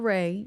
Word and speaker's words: Raeh: And Ray is spelled Raeh.